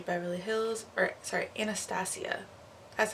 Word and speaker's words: Anastasia: It's the Dip Brow Chocolate from Anastasia Beverly Hills, or sorry, Anastasia. That's how you pronounce it, Anastasia.